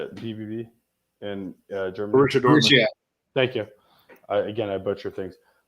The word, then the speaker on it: Borussia Dortmund: But like Boris Dortmund, how do you say it? BBB in Germany. Borussia Dortmund.